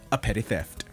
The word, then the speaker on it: A Petty Theft: And of course, a shout out to our good buddy, A Petty Theft. That is how it's pronounced. 2 P's at the beginning, 2 T's at the end.